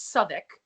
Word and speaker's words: Southwick: Southwick which is not how you would pronounce that name if she's English it's sub ik anyway um she just